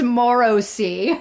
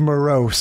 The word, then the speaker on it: morose: laughed at that too somebody says morosi yeah morisy instead of morose and Mr badier can't